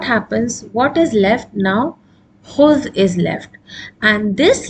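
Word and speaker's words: خُذ: Khuz has a Dhamma over it. Kha has a Dhamma over it. This Dhamma here. So we can pronounce, so there is no need to put a Hamzatul Wasal here. That's why this is khuz.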